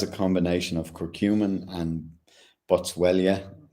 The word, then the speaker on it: Boswellia: So like I said, it has a combination of curcumin and boswellia. Boswellia. It's yeah, that's how you pronounce it.